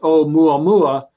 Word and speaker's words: Oumuamua: I being the abbreviation for an interstellar object, and pronounced this is a Hawaiian word meaning visitor or scout or something like that, and it pronounced Oumuamua, and I mentioned this